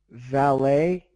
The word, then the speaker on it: valet: yeah a lot of words that end with ET like buffet and valet the t is silent oh that was B